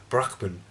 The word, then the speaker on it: Brahman: exists in all things, an essence called Brahman, or as I was taught in university it should be pronounced Brahman.